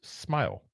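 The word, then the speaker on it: Smael: Smile Mondon out of Georgia. And yes, it is spelled S M A L, but it is pronounced as Smile.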